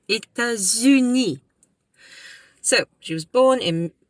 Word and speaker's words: États-Unis: And the S, you pronounce the S because it's followed by a vowel. États-Unis, So, she was born in St.